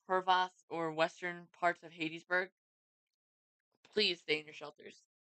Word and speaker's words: Hattiesburg: and most likely be for including you guys in Hadesburg. How do you say it? Hadesburg or Hattiesburg? Hattiesburg.